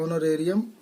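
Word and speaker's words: honorarium: एक आ सकता है इनका ऑनोरेरियम, ठीक है, ऑनोरेरियम में एच साइलेंट होता है तो उसको पढ़ते हैं ऑनोरेरियम।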